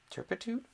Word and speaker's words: turpitude: Hang on, that's a schwa. Turpitude. Yeah, I did say it right.